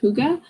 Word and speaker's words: hygge: I think it's pronounced hygge. It's Hygge, and oh yeah, I've heard that one.